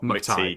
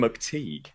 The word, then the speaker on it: McTighe: I pronounced that right, haven't I? It's not McTighe. McTeague like not Just like like- as in everyone like else a- thinks.